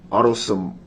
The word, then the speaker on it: autosomal: Is it autosomal?